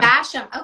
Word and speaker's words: Basham: Basham.